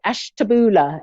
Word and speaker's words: Ashtabula: to speak and her name is Tony in Ashtabula Ohio are you there Tony yes I am hello I don't know if I pronounced that right Ashtabula is that is that yeah that's correct oh